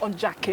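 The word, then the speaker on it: Ondaatje: so a transparent city by ondachi let me think on jackie is how you say it now i i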